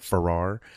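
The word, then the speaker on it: Pfarrer: um the writer uh Chuck Ferrar PFA r r a r I think you would pronounce that Ferrar um Chuck Ferrar uh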